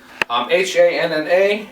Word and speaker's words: Hanna: H-A-N-N-A. It's pronounced Hanna, or most people call me Hanna here. It's not Hanna. It's missing the H at the end.